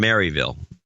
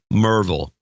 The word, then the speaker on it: Maryville: Michael Delosier from Maryville. Merville. Let me get that right, too.